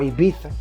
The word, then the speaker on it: Ibiza: tour in amnesia and ibiza spain or ibiza the way they pronounce it before hip-hop knew